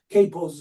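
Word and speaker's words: kapo: Capos is the most a common term, agreeable way that it is pronounced, capos, that in Nazi Germany,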